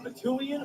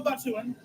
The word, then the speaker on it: Batuuan: Now, are you a Batuuian or a Batuuan? I'm a Batuuan.